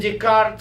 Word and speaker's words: Descartes: Without Descartes, is this how we pronounce him? Descartes, yeah.